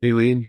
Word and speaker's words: Eileen: There's a good question from Eileen. Am I pronouncing it right? Aileen, yeah.